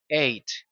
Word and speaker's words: eight: Muchos suelen confundirse y pronunciar la letra G que está allí en la mitad, pero tanto la y la H en en esa palabra son mudas y simplemente se dice eight.